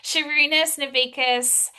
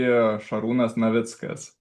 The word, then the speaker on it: Šarūnas Navicka: Can you please pronounce your name the way you you pronounced it because it sounds so much more eloquent than how I've pronounced it. Yes, thank you. So, proper would be Shunas Mitzkas.